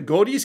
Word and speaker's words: Guedes: granted cert is either, I believe it's pronounced the Guedes case, that's G-U-E-D-E-S, the Guedes case.